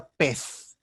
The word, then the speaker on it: pez: Esse C era uma pronúncia mais forte, como o TS, petse, que depois evolui a pez, ou pez. No espanhol peninsular mantém-se uma interdental, pez, mas no espanhol americano é uma sibilante, pez, ok?